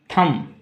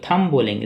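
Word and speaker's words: thumb: का मतलब गूंगा नेक्स्ट थम तो थम बोलेंगे सिर्फ थम थम थम बी नहीं सिर्फ थम थम मतलब थम का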